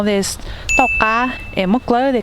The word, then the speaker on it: Tauj Qab: In Hmong Leeg dialect, lemongrass is pronounced differently. In Hmong Leeg, we call this Tauj Qab.